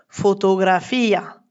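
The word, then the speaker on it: fotografía: Par exemple, photographia. Là, on entend bien I à la fin en deux syllabes.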